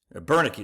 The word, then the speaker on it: Bernicki: But then part two, my man Ty Bernicki, Bernicki is how you say his name.